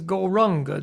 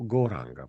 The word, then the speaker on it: Gauranga: The mantra is Gauranga, divided into 4 syllables, Gauranga. Mantra, której użyjemy, to Gauranga, podzielone na 4 sylaby.